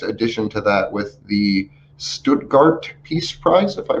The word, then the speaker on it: Stuttgart: And then this will be the next addition to that with the Stuttgart Peace Prize, if I pronounce that properly. Stuttgart.